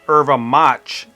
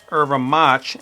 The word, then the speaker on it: erva mate: shimao yuram mate or more correct it would be irva mat as the way that they pronounce it irva match in Portuguese so there is a